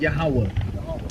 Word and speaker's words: Yahweh: So you just pronounce it Yahweh.